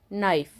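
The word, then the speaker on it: knife: मूक लेटर हो गया के एन आई एफ ई नाइफ यहां भी नाइफ एन आई एफ ई पढ़ा गया है लेकिन के है जो वो नहीं पढ़ा लगा क्योंकि वह साइलेंट है।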